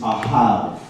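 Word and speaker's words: אהב: So in Hebrew, the word for love is ahav. Can we say ahav? Ahav. Ahav, okay? So it's spelled A-H-A-V, but of course in Hebrew it's not necessarily English letters. It's the aleph, it's the A, and it's the Hebrew letter bet.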